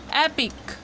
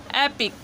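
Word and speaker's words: epic: यहाँ पे ई नहीं प्रोनाउंस होता है, ए होता है। जैसे इसको पढ़ते हैं हम एपिक, ठीक है, इसको पढ़ते हैं एपिक, इसको पढ़ते हैं एपिडर्मिस, ठीक है, एपिडर्मिस, एपिडर्मिस।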